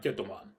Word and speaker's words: Jetman: Hello, Brian the Fanboy here, and today I'm going to review Choujin Sentai Jettoman. Well, actually, it's written as Choujin Sentai Jetman, but I'm going to say the way it's pronounced.